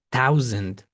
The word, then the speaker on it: thousand: Thousand, muy importante que la o y la u, también la o y la w se pronuncien abierto au. Así, por ejemplo, aquí thousand. La a no suena.